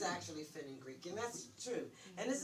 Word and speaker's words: fenugreek: Funkin' Greek. Fenugreek. Fenugreek. Is that Fen? Fenugreek. Fenugreek. Is that how you pronounce it?